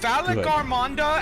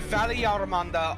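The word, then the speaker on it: Valigarmanda: He pronounced it as Vegiamanda. No. Beautiful. But sometimes it sounds beautiful. Like badge. There are Vegiamanda. Both Valleygarmonda and Valleyarmanda are acceptable.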